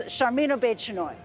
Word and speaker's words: Sharmeen Obaid-Chinoy: Here's Sharmeen Obaid-Chinoy.